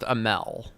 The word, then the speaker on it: Amell: I think it's pronounced Amell.